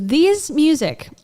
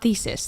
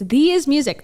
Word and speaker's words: These Music: But first, I want to say thank you to These Music. I think it's These, not Thesis. That was my first pronunciation, but I think it's These Music.